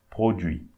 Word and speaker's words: produits: Produit, so we don't pronounce the T and the S. So don't say produit. Okay. Produit.